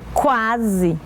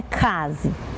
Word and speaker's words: quase: eu quase eu quase Olha só pronúncia quase não é casa quebrei o braço o